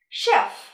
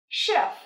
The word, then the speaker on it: chef: Còn đầu bếp là chef. Chef. Nhớ nhé, chúng ta không đọc là chef nha. Và cũng nhớ bật âm kết thúc nữa nhé.